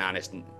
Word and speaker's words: honest: I'm gonna be an honest. I'm gonna be a. That doesn't work. I was about to say an honest Hannu because both words have an H, but you don't pronounce the H in honest, so that doesn't make sense.